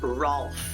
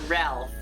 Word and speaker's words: Rolf: Like we thought, it's Rolf. Not Ralph.